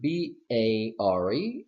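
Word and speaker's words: bare: pronounce it bear and this I pronounce it bear my question for you is what is the difference in pronunciation think for a moment okay well I will tell you what the difference is there is no difference okay in pronunciation they sound exactly the same now there are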